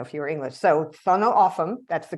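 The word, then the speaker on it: Tohono O'odham: So, Sono Aam, that's the correct way to pronounce the name of this tribe.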